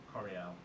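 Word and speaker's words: Koriel: So Coriel, to spell it, is it Coriel? K-O-R-I-E-L. K-O-R-I-E-L. Coriel.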